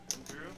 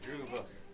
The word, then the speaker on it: Druva: Oh, Reese, by the way, it's pronounced Drew with, you do pronounce the V. Correct. Drew? Druva.